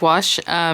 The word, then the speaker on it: gouache: this artis iguazu site you pronounce it metallic wash so she's it did